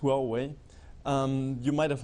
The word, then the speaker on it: Huawei: for the pronunciation so it's pronounced well way you might have not